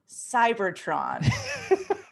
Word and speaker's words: Cybertron: That secret code tonight is Cybertron.